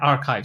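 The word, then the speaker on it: arXiv: So uh there's an RXIV which is very popular but it lacks quality I think they pronounce it. Yeah archive.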